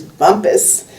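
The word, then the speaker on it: Bumpass: as Taylor Fitch's hotel which is Bumpus which is spelled bump ass Virginia yeah Carl comes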